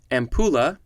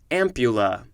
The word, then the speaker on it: ampulla: etymology next we have it could be pronounced a couple different ways first way is ampulla second way is ampulla it is spelled a-m-p-u-n